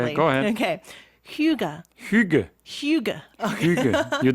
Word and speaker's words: hygge: culture of, okay, I'm going to try to pronounce this correctly. Okay, go ahead. Okay. Hygge.